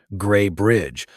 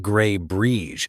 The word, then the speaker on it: Gray Bridge: A reporter from Portland stumbles over the town's name, Gray Bridge, not Gray Breege, and you feel the town flinch collectively, as if mispronunciation could bruise it.